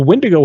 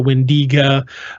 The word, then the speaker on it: Wendigo: All of the legends around the Wendigo, and there's about a dozen different spellings and pronunciations of the Wendigo, the Wendigo, the Wendiga. The list goes on and on with the Wendigo, but they're all very similar in the stories.